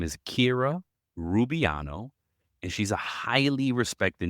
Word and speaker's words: Kira Rubiano: Welcome, Kira Rubiano. Did I pronounce that right?